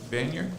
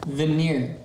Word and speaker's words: veneer: Is it vaner? Veneer.